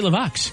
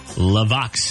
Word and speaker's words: LeVox: to but didn't say it right it's Gary laox Gary Wayne Vernon is in fact Gary levox is his stage name what did I say